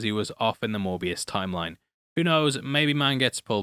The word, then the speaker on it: Morbius: ALso everytime I say Morbius I have to double check Ive said it right cos mans been saying Mobius for about the past 7 weeks.